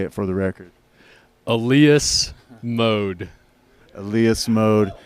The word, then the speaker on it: Elias Mode: why don't you say it for the record Alias mode Alias mode it's been our pleasure and our